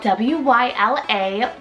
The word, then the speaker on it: Wyla: Wyla, spelled W-Y-L-A, Wyla.